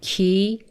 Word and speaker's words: کی: K and ki have the same spelling, but the pronunciation is different. K means when, ki means who.